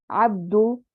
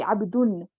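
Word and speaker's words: عبد الله: Mudaf will never be heavy. It will always be light. Like Abdullahi. It will never be Abdun. You can't even pronounce it. Abdun, you can't even say it. If you're struggling to say something in Arabic, then no, it's wrong. Abdullahi, no, that's wrong. Abdullahi. See how smooth that is?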